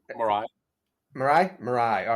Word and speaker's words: Mirai: It's a valid way to pronounce it. I usually say Marai.